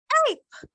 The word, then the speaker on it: ape: So this becomes ape. Ape, very easy to pronounce. So at the end of the day, you discover that you are pronouncing just two sounds of it. And the E is silent. Silent, you don't pronounce it, but you must write it when you're spelling, okay?